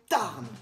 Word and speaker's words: Tarn: Monopoly lance une édition Tarn. Enfin, Tar, le Tar. Chez eux, ils disent le Tar. Ils prononcent pas les N.